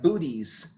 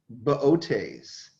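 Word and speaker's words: Boötes: think you say that it looks like booties but it's there's an out there it's pronounced botes the herdsman botes is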